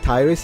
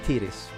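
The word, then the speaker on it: Tyris: I always pronounce it Tyrus. I think I was wrong. I think it's Tiris.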